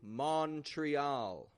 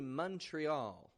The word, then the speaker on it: Montreal: And in a meeting, everybody keeps on saying Montreal, Montreal, something like that. But then you step in like a superhero and you say, hey folks, it's actually Montreal, Montreal.